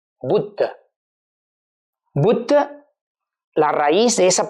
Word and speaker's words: Buddha: Y por eso el título Buda, en español se escribe B-U-D-A, pero en sánscrito es B-U-D-D-H-A. Buddha.